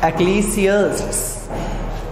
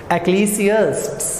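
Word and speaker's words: Ecclesiastes: गई है मेरा बेटा एक्लीसियस्ट्स में से. प्रोनाउंसिएशन सुनिएगा, एक्लीसियस्ट्स. आपने अपनी ज़ुबान को थोड़ा सा एस पे रोक के फिर उसको टी पे फिर एस को आपने लेकर आना है, एक्लीसियस्ट्स.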